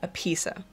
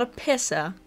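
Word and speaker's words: Appissa: And that would be a pizza. Not a pissa, a pizza. It's spelled A-P-P-I-S-S-A, which is why I was so scared people would just start saying a pissa.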